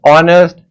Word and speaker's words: honest: It will be noticed that the words hour, honest, heir begin with a vowel sound as the initial consonant H is not pronounced.